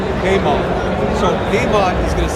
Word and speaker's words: Peymon: Peymon, like the man that pays. Peymon.